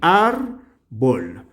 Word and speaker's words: árbol: dudarlo muy bien la árbol dividamos en sílabas tenemos momento ar bol de esta manera donde se pronuncia con la mayor fuerza de voz aquí árbol muy bien enumeramos uno